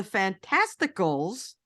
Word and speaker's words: Fantasticals: of the Fantastics or the fantasticals rhymes with testicles is an old one